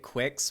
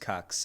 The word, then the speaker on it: QUX: or quix is your i like how they tried to make it quicks when it's just cucks it's cucks it is